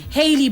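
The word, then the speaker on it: Halle: the other Bailey sister is it Harley or Haley Haley Bailey thank you very Haley Bailey anytime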